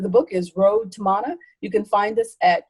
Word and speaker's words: Mana: a wonderful copy of your book, Road to Mana.